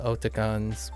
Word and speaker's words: Otakon: And it's pronounced Otakon because it's otaku meets convention. So you could argue like, but it's Otakon, and it's like, nah, it's a combination, East meets West. Otaku meets convention.